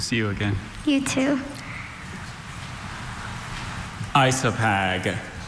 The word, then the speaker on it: isopag: Isopag Isopag. Are there any alternate pronunciations?